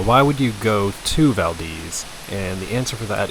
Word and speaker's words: Valdez: And now we are on a beautiful drive to a place called Vald. It's spelled like Valdez, but it is pronounced Vald.